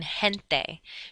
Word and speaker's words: gente: If G, E, or G, I is in a combination together, then it's pronounced like the letter H, like in gente.